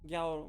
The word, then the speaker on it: Gyaru: That's pronounced as a Ganyu. Gyaru. Gyaru.